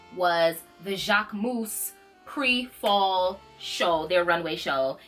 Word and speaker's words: Jacquemus: wrong and the people have been saying Jacquemus, Jacquewoods, it's Jacquemus. That's how you pronounce it.